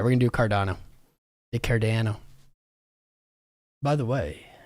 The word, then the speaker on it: Cardano: like whatever you want let's go cardano cardana let's do the cardana I love saying it wrong I don't know why